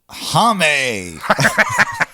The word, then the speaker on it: Jame: dad joins them J is it Jame or Jamie it's spelled Jame hame it's not not Hae uh Jame Ean and